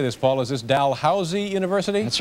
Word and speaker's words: Dalhousie: Is this Dalhousie University? That's right, Dalhousie.